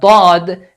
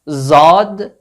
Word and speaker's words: ض: So the counterpart of the letter Dhaad doesn't exist in English, but it's a sound between Z and D. Dhaad, Dhaad. Not Zad, not Dhaad, between these two letters.